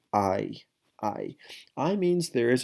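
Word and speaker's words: hay: I H a why the H is silent in Spanish that's why we don't say whole law we say hola so same thing we don't say hi we say aye aye aye means there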